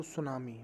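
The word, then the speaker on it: tsunami: तो ये पार्ट 2 है, लेसन है जो सुनामी। मैंने बताया आपको, जो सुनामी है उसमें टी साइलेंट होता है, टी।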